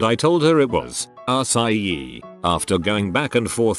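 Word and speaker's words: açaí: Show her that when it's properly spelled, the C is actually a cedilla. C cedilla, which changes the hard C to a soft C, which is pronounced like an S.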